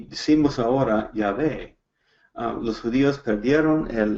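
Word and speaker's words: Yahweh: en español como jehová es como una palabra inventada porque hemos perdido la pronunciación correcta del grandioso pero lo más correcto lo más cerca que podemos calcular es cuando encontramos el bajen en la biblia y realmente está diciendo ya ve el grandioso y vamos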